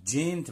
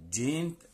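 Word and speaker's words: giant: هنا بيقول لي كلمة جينت معناها عملاق. جينت اتفقنا حرف جي لما يجي بعديه اي او اي او واي نطقه جي، جينت عملاق.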